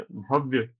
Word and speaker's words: भव्य: ठीक है, यदि आप पूरा भव्य लिखोगे व अ, तो उसको पढ़ा जाएगा भव्य। भव्य, भव्य नहीं है, भव्य। व का थोड़ा सा उच्चारण है, तो इनकी बात बिल्कुल ठीक है। भव्य में व आधा आएगा जी।